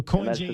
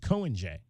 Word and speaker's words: Coen J: me Coen J so Coen J is actually the way you it's pronounced Coen J so the Jay is not silent J okay yeah so anytime someone meets me they think it's just Cohen but yeah the Jay